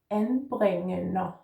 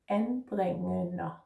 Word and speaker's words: anbringende: Let's put those together. En bring en a. Anbringende. I hope this helped for this word. Anbringende.